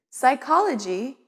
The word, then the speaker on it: psychology: stir in some words there are silent letters let's look at some words with silent letters b doubt and debt h chemist and chaos k no and knight p psychology and pneumonia s isle and island